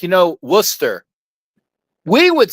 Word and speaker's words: Worcester: There are things like that you just know like you know Worcester. We would say it' be Worchester but when you know where you know it's I'm from Wora Massachusetts so it's it's how and all and how you know.